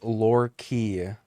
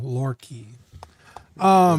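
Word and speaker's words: Loki: It's pronounced Lore Key for the Eric in the Patreon chat. Okay. He He made a post in the group. Okay, cool. Lor Key.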